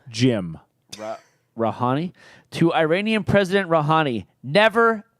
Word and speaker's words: Rouhani: Rouhani?